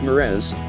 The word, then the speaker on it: mirage: Asked Uncle Benjamin, and, not waiting for Valancy to give it up, he added, Mirage and marriage. Mirage is pronounced Mirez, said Valancy shortly, picking up her tea and her beans.